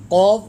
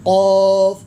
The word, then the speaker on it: قاف: ہیں، قاف نہیں پڑھتے۔ قاف زبان کی جڑ جب تالو کے ساتھ لگے گی تو انشاءاللہ آپ کا بہترین طریقے سے یہ تلفظ ٹھیک ہو جائے گا۔ قاف قاف، قاف لام پیش